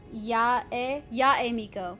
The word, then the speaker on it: Yae Miko: Yae Miko. Okay. Thank you, Grace. Because I'm like, I want to know how to pronounce it properly, but then I always feel bad because I forget.